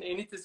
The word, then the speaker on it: Enitis: Is this the right pronunciation? Enitis is. Enitis, yes, yes.